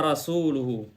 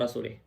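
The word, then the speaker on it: وَرَسُولُهُ: Tetapi orang Ajam itu dia membacanya Annallaha bari'un minal musyrikina wa rasulih. Ya, apa bedanya dua harakat ini?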